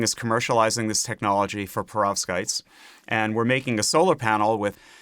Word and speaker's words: perovskites: If I can pronounce it, that is. Yeah, perovskites.